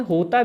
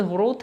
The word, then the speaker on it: ह्रोत: आप कह सकते हैं होता भी कहीं कहीं लिखा होता है। तो जो कहें सही शब्द ह्रोत है लेकिन होता भी कहते हैं।